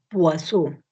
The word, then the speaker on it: Poisson: Se escribe Poisson como veneno y se lee Poisson, distribución Poisson. Entonces es otra distribución discreta,